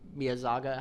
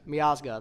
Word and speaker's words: Miazga: Pulisic is the Matt Miyazaga. How do you say his name? Matt Miazga. Miazga, there it is.